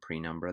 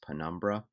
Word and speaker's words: penumbra: earlier in the video i said the term prenumber this is incorrect it's actually pronounced penumbra so in this example i'm going to use